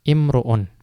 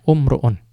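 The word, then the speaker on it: امرؤ: Kemudian as-sadisu, yang keenam, imru'un. Ya, imru'un. Yaitu seorang laki-laki. Ya, seorang laki-laki. Ya, walaupun ada yang berpendapat membacanya umru'un.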